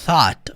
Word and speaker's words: thought: Se você quiser falar eu pensei, I thought. Olha só o som do TH aqui, ó. Think. Thought. Como é que eu pronuncio, Murilo? Coloca a língua na ponta dos dentes e assopra.